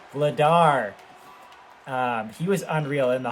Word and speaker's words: Vladar: It's not Vladak or Vladik or whatever that goalie's name was, who was absolutely unreal for them. Vladar, that's what it was. Vladar.